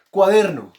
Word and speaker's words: cuaderno: Cuaderno no tiene la sílaba tónica en la última, por lo tanto no es aguda, ¿no?